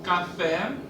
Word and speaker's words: café: é a sílaba tônica no outro caso café cá fé ea outra também oi gê olá nestes três casos você vê que a última sílaba é a sílaba mais forte a sílaba tônica nesses desenhos que eu